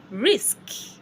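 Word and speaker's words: risque: And when they are not there, and you see an E ending the word, just leave it the way it is. Leave it the way it is. Risk. Risk. Risk. No E pronounced.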